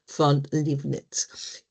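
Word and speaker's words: Leibniz: quienes en realidad forma a idea, así se pronuncia Billy Godfi Livnets, quien en realidad dieron forma a ideas que muchos precursores ya habían estado investigando.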